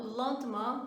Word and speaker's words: lentement: Então, esse som de EN para nós vai corresponder aproximado ao un no português. Então, lentement, comprend e italien.